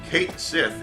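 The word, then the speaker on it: Cait Sith: for the king of cats basically and so Kate Sith is actually the correct pronunciation of of that and that's something that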